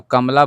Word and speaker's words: कमला: तो कमला बोलते हैं कमला, कमला यानी म पर आधा उच्चारण लग रहा है, कमला लग रहा है ना।